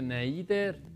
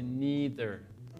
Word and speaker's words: neither: to and me neder ojo no se pronuncia neider nider bueno algo pero por lo general la mayoría de gente dice neeter algunas personas dicen Pero bueno no es tan común mi nether Me